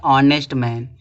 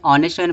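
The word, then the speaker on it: honest: है जैसे यहां दिया ऑनेस्ट मैन इसको नेस्ट मैन नहीं पढ़ेंगे ऑनेस्ट मैन पढ़ेंगे तो इसके पहले आर्टिकल क्या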